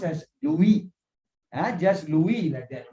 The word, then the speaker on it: Louis: French French pronunciation and this is a French pronunciation because this guy is from France so this one will be pronounced as UV and just Louis not not Luis okay Louis so Louis Braille of